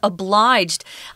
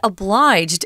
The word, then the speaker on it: obliged: We use a hard G on obligation, or I feel obligated. That's a hard G. But obliged suddenly turns into this soft G sound, this J. Obliged.